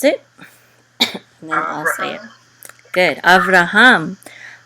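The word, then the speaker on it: אברהם: it I am good Avraham after hum and of course that's commonly in English said as Abraham now read great or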